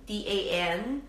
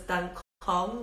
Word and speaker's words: Dan Cong: oolong called Dan Cong, D-A-N-C-O-N-G. Sometimes I hear people pronounce it as Dan Cong with the C as a K, but it's actually pronounced, the C pronounces it S. So it's Dan Cong.